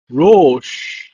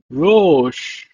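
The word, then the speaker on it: רֹאשׁ: It's pronounced as Rosh. Rosh.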